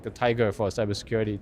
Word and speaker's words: TIG: And the nice thing is, it's like the tiger for cybersecurity. TIG also rhymes with tiger.